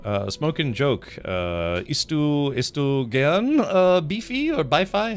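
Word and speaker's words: BiFi: Isst du gern beefy or Bi-Fi? How's it pronounced? How do you say? Beefy. I would like to eat it. It's spelled beefy. Oh, okay, gotcha. So it is kind of beefy.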